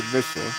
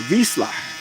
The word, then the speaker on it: Vizsla: He's if I say it in American, it'd be a Vissla. But if I pronounce it right, I believe it's called a Vizsla.